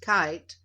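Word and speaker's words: Keith: power a German named Max kite is Kei t h but it says it's pronounced kite went to work for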